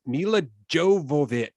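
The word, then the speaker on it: Milla Jovovich: Uh Mila Jav, how do you say it, DJ? Okay. She is the star of the Resident Evil films. Mila Jovovich.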